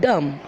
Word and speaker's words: dumb: But you will not pronounce B, you will call it dumb.